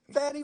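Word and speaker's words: Fani: You got her name wrong. It's Fonnie Willis, and you couldn't say it I right. just said that. Fannie Willis.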